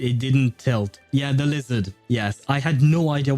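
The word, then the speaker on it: lézard: This is how you say uh lizard in in French. It's lizar.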